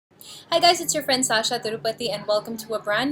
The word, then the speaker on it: Tirupati: And it's Tirupati, like the temple. Not Tirupati, not Tirupati, not Tirupati, Tirupati.